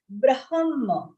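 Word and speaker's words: ब्रह्म: Third one, third charan, second word, munir brahma. So when you say brahma, ha will be half, comes first and then ma.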